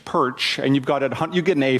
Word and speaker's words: Pyrcz: It's Ukrainian. You just say it like the fish, Pyrcz, and you get an A for that, 100% for that.